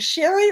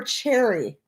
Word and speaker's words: Cherry: Sherry I appreciate that do you pronounce it Sherry or cherry I hate to pronounce your name wrong Cherry like the fruit okay I'm sorry I